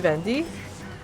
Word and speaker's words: Venti: By the way, Venti is JP Vendi. Venti and JP is Vendi.